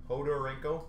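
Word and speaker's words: Khodorenko: number two 1000 jordarenko is that how you say it anna hodorenko hodarenko so i said it right hodarenko barzo forward as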